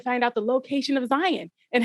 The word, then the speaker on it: Zion: he has risked everything you have pronounced sir two things slightly wrong it's the nebuchadnezzar and it's zion zion that whatever you said okay not zion zion it's not diet i was going to